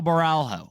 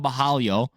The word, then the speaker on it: Borralho: Nasserdine Immav is taking on Kaio Baralho or Kaio Bahalo if you want to say it correctly, but I don't.